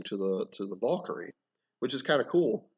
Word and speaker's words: Valkyr: attached to it but instead of Valkyrie which is how we use a pronounce it I just call them the valkyr v-a-l Latin evolve which is probably more of the Nordic pronunciation uh the valkyr so and it's just basically